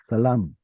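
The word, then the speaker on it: سلام: Salam salam. salam. So this long a sound in Arabic stayed, but in the Canaanite shift, which includes Hebrew, it becomes an O sound.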